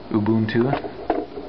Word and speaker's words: Ubuntu: I've actually got Ubuntu up top, Ubuntu, for those of you that think I'm pronouncing it wrong, and then there's Fedora,